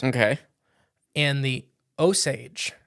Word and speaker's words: Osage: And the Osage. It's spelled like the plant, so that's how I'm pronouncing it.